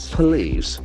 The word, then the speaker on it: police: Police. The P is a mouth sound. Police. And the accent falls from the second syllable.